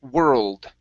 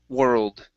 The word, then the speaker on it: world: Okay, let's go to okay, world. Okay, pronounce that D at the end. World.